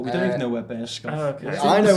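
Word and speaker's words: Burscough: It's Bearscough.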